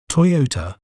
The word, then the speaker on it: Toyota: We may pronounce it as Toyota, Toyota, Toy, O, Ta, Toyota. An interesting fact about Toyota is that it is a pioneer in hybrid technology.